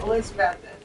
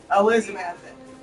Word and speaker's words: Elizabethton: A lot of people going from here will say Elizabethton, and it's like, you don't pronounce that last T. It's just Elizabethton.